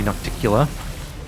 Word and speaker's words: Nocticula: our group because we're going to go see naktikila and now that i know pronounced her name i'm pretty happy about that